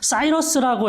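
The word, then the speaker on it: Cyrus: 영어로는 사이러스라고 해요.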